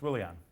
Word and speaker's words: Willian: That's a W. It's Willian.